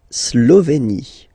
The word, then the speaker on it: Slovénie: La Slovénie. Remember, you get this E accent aigu here, it's E. Slovénie. Final E, as usual, not pronounced. La Slovénie.